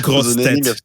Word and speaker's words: grosse tête: We love when Americans say grosse tête. Oh no, that's not how you say it. But well, they try. It's fun.